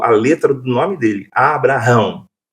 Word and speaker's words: Abraão: O H eh no hebraico, ele faz parte do nome de Deus. Ah, tá, né? Que era impronunciável. Uhum. O nome de Deus. Então o H ele tem um som mudo.